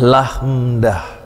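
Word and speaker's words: lambda: seperti pada kata lagu ya membacanya lahmdah lahmdah yaitu membaca nama dari lamda kemudian huruf berikutnya mu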